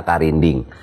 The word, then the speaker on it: karinding: Ada di situ huruf K, ada Ra, ada Na, ada Da, ada Eng tadi atau Nga, dan Ya. Dibacanya karinding.